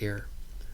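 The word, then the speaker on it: Ayer: Um and or that's how it's it's it looks like, but it's pronounced air.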